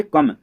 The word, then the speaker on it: come: ओ को छोड़ के जब ई आए तो इसको ओ और ई को, मतलब ओ को ओ से पढ़ना नहीं है, हमको क्या पढ़ना है, अ से।